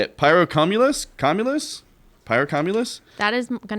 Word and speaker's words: Pyrocumulus: How do you pronounce the name of it? Pyrocumulus. Pyrocumulus.